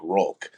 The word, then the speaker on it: Hulk: call me Hulk but in Portuguese the H is is pronounced with the r right with the r sound so it's so that's where it looks like rol uh with everything so